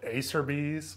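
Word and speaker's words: Acerbis: when we were kids we used to call it Acer bees kind of like Applebees but I'm pretty sure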